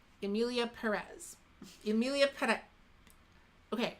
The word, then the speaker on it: Perez: They kind of roll their R, which I can't do. I can't really roll my R. Perez. Just pronounce it as Perez.